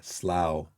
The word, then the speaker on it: Slough: I think Lolugio pronounced it that way. I heard recently. Yeah, Slough.